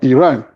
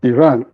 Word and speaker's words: Iran: capital of Iran, or Iran, whichever is the case. In Africa, we pronounce it Iran. In America, because people like running here, it's pronounced Iran.